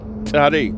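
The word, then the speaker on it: צדי: Tzare, tzare, tzare. And then you have another letter, resh, resh. That's like, okay, tzare is like TS. But the correct pronunciation of tzare, tzare, you hear that? Tzare.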